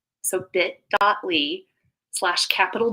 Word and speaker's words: Ly: at lee and it's l y like love yourself but it's pronounced lee so think differently you'll